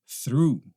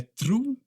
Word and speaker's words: through: Through, through, through. Não é true, não é trau, é through, through, tá?